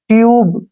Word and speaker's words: tube: जैसे नेक्स्ट है TUBE, टी से बन गया टे और यू का उच्चारण यू रहेगा और बी से बै, ट्यूब।